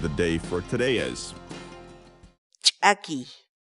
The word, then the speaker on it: ch'akiy: series videos where we teach you how to pronounce certain words in Quechua so our word of the day for today is tacky tacky tacky in English the Quechua word a key means